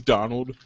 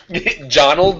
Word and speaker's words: Jonald: Did you say his name's Donald? Jonald with a J.